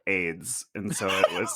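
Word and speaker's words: Ayds: It's like that early '8s diet candy that was called AIDS.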